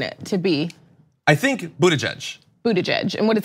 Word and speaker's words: Buttigieg: to be I think Buddha judge Buddha judge and what does he say he wrote it bud jedge bedge bud jedge bu we we write out